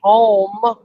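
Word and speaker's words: Houma: crazy yeah it is h o m UA yeah pronounced home home I mean says you're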